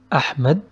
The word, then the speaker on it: أحمد: Like the name of أحمد, there is سكون on ح, so we don't pronounce it أحمد or أحمد or أحمد, it's أح مد.